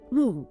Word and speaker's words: mu: It's represented by the Greek letter e pronounced moo. Moo.